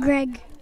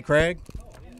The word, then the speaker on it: Craig: do you gotta say my name's not Greg say Craig use some OxiClean and